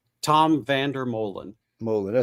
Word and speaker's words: Vandermolen: it is so it's it's uh it's Tom Vander Mullen Mullen I said well we had it right